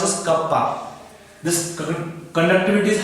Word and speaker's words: kappa: Symbol pronounced as kappa.